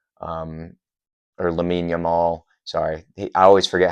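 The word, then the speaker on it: Lamine Yamal: left to help de Marco out with uh Yamin Lamal um or Lamin Yamal, sorry, I always forget how to pronounce his name.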